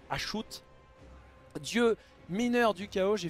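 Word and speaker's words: Hashut: l'aide il s'agit d'cho ou achute si vous préférez mais ça se prononce acho dieu mineur du chaos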